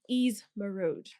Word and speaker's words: Eazz Meroud: He goes by the name Eazz Meroud.